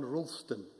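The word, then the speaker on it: Roulsdon: is person called john rollston and the surname is spelt r-o-u-l-s-d-o-n okay many many thanks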